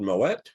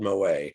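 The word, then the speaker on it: Moët: now i said claude moet or claude mo a um 601 half dozen of another i've heard the name pronounced both ways uh and if you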